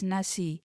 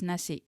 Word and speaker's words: nasi: It is with an additional letter K at the end. However, this letter K is not written but softly pronounced. Some people do say it as nasi, but most of us